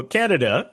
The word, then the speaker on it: Kaneda: How would you pronounce the name of our major character, protagonist? You pronounce it Kaneda. Yeah, so Kaneda is our reckless biker gang leader.